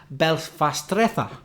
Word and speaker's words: belfastreza: Or if you prefer the Spanish pronunciation, Belfastreza.